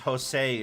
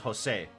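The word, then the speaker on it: José: But ever since then, everybody calls him Jose, not Jose. Mad. I love the three caballeros. So I prefer Jose in his original appearance.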